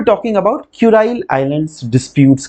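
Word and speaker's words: Kuril: को जो है ना हम लोग क्यूराइल आइलैंड्स बोलते हैं, है ना। प्रोनाउंसिएशन बॉय कोई क्यूरिल बोलेंगे, कोई कुराइल बोलेंगे, कोई बात नहीं, चलता है, इंडियन है ना हम लोग, चलता है।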